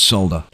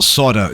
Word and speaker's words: solder: ready to make make your first solder or solder joint as the Americans say now take your time